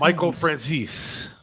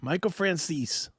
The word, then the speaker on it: Michael Franzese: Michael Franzese. Did I say it right this time or no? You did. Michael Franzese.